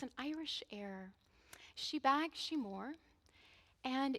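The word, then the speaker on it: Sí Bheag, Sí Mhór: bags she more and it's spelled actually SI b h EA g SI MH o r so it definitely if I was to say it the way it's spelled it wouldn't resemble one or the other I'd like to dedicate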